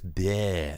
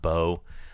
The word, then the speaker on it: Bear: correct my pronunciations um my name is bear not Beau uh anyway this movie